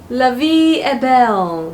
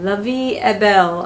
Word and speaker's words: La Vie est Belle: So it is actually pronounced as La Vie est Belle. La Vie est Belle. I'm not sure if I pronounced correctly. I hope so. I was trying to Google to get the correct pronunciation. It's actually in French, I believe.